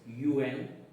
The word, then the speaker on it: un: First word is un. Pronunciation will be nasal sound, which means or n.